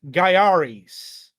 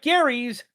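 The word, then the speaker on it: Gaiares: And that is Garis, not Gary's Garis. It's pronounced with Gia.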